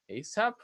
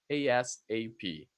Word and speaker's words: ASAP: This one you actually can pronounce both ways, as a word, ASAP, or as an initialism, letter by letter, ASAP.